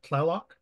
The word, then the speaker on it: Tlaloc: But TL is a top. Tlot sound, tlot, tlot like Tlaloc.